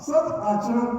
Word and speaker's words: सदाचरण: और इसमें भी थोड़ा अलग उच्चारण हो गया, चा और रा को अलग कर दिया, सदाचरण तत्पर। सदा रण के लिए तत्पर, सदाचरण सुनने के लिए तत्पर।